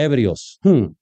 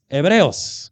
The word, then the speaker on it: Hebreos: Y siempre les corrijo, perdón que yo soy muy así, no se dice hebbrios. Hebreos, capítulo 11, versículo 32.